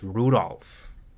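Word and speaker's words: Rudolf: Anyways, this guy's name is pronounced Rudolph.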